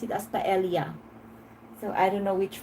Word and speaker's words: paella: Yeah, in the Philippines, we pronounce that with a hard L.